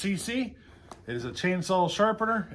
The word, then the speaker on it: Seesii: It is, I believe this is pronounced CC.